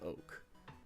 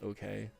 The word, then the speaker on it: Oak: I'm Oak. You know, when I was a kid, I thought his name was Okay. Like, I didn't realize you pronounced it like oak, like the oak tree.